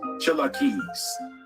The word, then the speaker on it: Cherokee: to more extended information their name rightly pronounced as Chella keys or more properly keys their territory was to